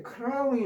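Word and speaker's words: crown: 아 그러면 안 되는데 하여튼 뭐 이렇게 직선 빌라인 자 세 번째 절에 크라운이 나와 있습니다. 크라운 여기에 r로 돼 있어요. 크라운 뒤에 N 붙었습니다.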